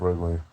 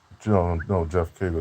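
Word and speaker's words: Geoff Keighley: And Jeff Geoff Wrigley, or whatever how you say his name, Mr. Wrigley, uh, Jeff Keighley, that's his name, Jeff Keighley.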